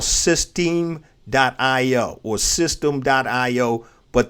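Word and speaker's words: systeme.io: weeks ago and i love it is called system dot io or system dot io but they spell it s y s-y-s-t-e-m-e dot io that's a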